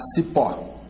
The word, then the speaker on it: cipó: Depois, com O, a cipó. Cipó. Cipó, a sílaba tônica vai ser a última, é oxítona e termina em O.